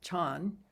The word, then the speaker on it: Chan: And in fact, he was a monk in Korea, where Zen is pronounced Son. In China, of course, it's pronounced Chan.